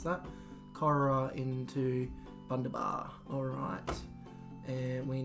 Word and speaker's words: Corowa: Alright, so let's go Manus, Cowra, Corowa. That would be how you pronounce that. Corowa into Bundabar.